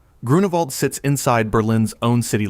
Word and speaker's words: Grunewald: Pronounced Groo-noo-vald. Grunewald sits inside Berlin's own